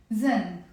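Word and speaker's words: ذنب: we have the word zen notice here it's written with aen but in the Lebanese accent we pronounce it as a z Zen okay so I'm going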